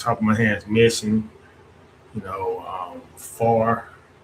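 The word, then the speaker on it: Pharr: Like for a few off the top of my head, Mission, Far, and Far is spelled Phar, Far.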